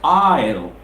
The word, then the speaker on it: aisle: Yes, of course we have the yes, we have yes on the spelling, but yes, it's quiescent here, S is silent here. It's not ISO, it's aisle.